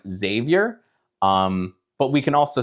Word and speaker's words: Xavier: The next letter in the English alphabet is X, and sometimes the X can be pronounced like a Z, like xylophone, or the name Xavier, but we can also say like X-ray, and that's X.